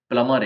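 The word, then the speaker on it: plumber: सारी प्रैक्टिस करनी पड़ेगी पी एल ए एम और यह अ का साउंड है प्लमर है जिसको हम नल ठीक करने बुलाते हैं स्पेलिंग के हिसाब से उसको प्लबर ही बोलते हैं सभी लोग कई बार हर जगह पर ऐसा ही बोला जाएगा बट रियल इंग्लिश में उसको प्लमर बोलते क्योंकि इसमें ब प्लमर प्लमर भी साइलेंट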